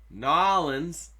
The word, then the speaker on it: New Orleans: Denver, Dallas, Chicago, Boston, Nolans. You gotta say it like a boss. You don't just say New Orleans.